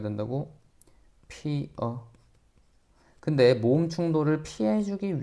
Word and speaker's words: 피어: 자, 피여가 아니라 원칙적으로 어떻게 발음해야 된다고? 피어.